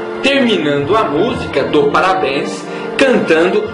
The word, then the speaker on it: música: música para mostrar que a palavra música é uma proparoxítona tendo como sílaba tônica a antepenúltima sílaba mu ao tocarmos não precisamos